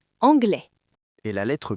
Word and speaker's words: anglais: Regardez le mot anglais. A-N-G-L-E-I-S. Le son s'arrête à la voyelle. Écoutez, anglais.